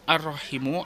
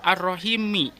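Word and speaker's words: الرحيمِ: kita berlanjut kelapa ar-rohim yang dibacanya ar-rohim act arrohimu apa arrohimi Nah dibacanya ini adalah arrohimi Kenapa dibaca arrohimi arrohimi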